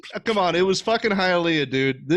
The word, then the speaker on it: Hialeah: Hialeah. Hialeah.